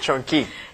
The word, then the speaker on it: Chong-Qui: Chong-Qui.